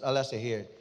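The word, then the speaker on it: Alaşehir: here as pronounce No it is spelled as pronounce Al say here and tinagurian din yang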